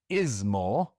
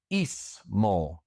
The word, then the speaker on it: ismo: And remember the sound I does not exist in Spanish. And so it is not ismo, it is ismo. The I is pronounced E. Ismo.